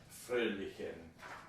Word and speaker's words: fröhlichen: And I was listening to this, and my intuition about the pronunciation of many of these words was all right, except for jolly or merry, because it looks like fröhlichen, but I think it's pronounced more like fröhlichen.